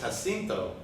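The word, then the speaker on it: Jacinto: to sit there because it was spelled like j-a-c-i-n-t-o and every time he went to speak to him you'd have to think about how to pronounce his name because it was it it was hasinto but I mean that's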